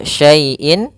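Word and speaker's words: شيء: lafal syaaiin di sini ada bacaan Lin pada lafal syai yaitu adanya huruf Ya Sukun didahului dengan huruf fathah maka kita namakan dengan ee bacaan Lin yang di mana di sini ya-nya tidak harakat titik Tapi tetap saja karena dia berbentuk ya ini dalam bentuk rasem ya syaaiin Qodir kemudian di sini ada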